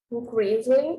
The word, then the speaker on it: increasingly: Jude James said social media is becoming increasingly because there's a G in here, but you don't pronounce the G. Increasingly important in your lives, our lives.